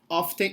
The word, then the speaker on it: often: after yes the pronunciation often it's not incorrect okay but in american english they do not pronounce the t they often oh sorry